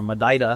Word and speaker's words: Madeira: And Madeira, the island, or Madeira, how they say it there, is very similar to Oahu.